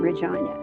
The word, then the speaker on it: Regina: city was um Regina, which rhymes with vagina.